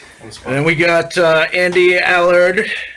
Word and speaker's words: Allard: And then we got Andy Allard. It's good. Did I pronounce that right? It's Allard.